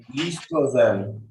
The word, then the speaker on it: estrogen: yeah, estrogen. Understanding? So estrogen and as well as progesterone. Progesterone. So progesterone and estrogen they will produce. Estrogen, O is silent here.